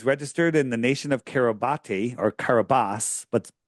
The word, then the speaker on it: Kiribati: And so it's Kiribati. That's how you would pronounce it, but that's how it's spelled.